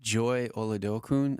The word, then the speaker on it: Joy Oladokun: But Joy Oladokun, I don't know if you say her name right.